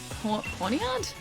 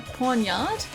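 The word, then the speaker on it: Pawniard: Porn ponyard. Pornyard is how you say it. Ponyard. Ponyard. Pornard. Okay. Cuz it reads to me like pornard.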